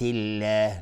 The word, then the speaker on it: الله: افبنعمت الله، اینجا دقت کنید روی لفظ جلاله افبنعمت الله، لفظ جلاله اینجا ترقیق یا نازک تلفظ میشه و خیلی هستن که اینجا اشتباهن